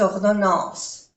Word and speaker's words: ordonnance: No se pronuncia la E. Ordonnance. A-N se pronuncia en.